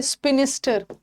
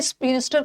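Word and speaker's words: spinster: देखो स्पेलिंग में मतलब देख लो, कंफ्यूज मत होना कि मैम ने तो स्पिंस्टर का ओल्ड अनमैरिड वुमेन बताया, बट यहाँ पे आई नहीं लगा है ना। यहाँ पे ये स्पिंस्टर का मतलब होता है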